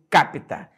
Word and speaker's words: capita: olha capta renda per capita esse per é preposição a palavra é capita repara que capita a sílaba atônica tá na antepenúltima sílaba ela é uma palavra